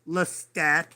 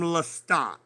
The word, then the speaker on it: Lestat: Now, it's pronounced in French Lestat, but, most of us phonetically call him Lestat.